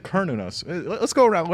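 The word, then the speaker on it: Cernunnos: You said Kernunos. Let's go around. How do you say it? Carninos. I say CERN. Okay, cool. Yeah, This yeah. couch is right. Nice. It's not. it's a hard C.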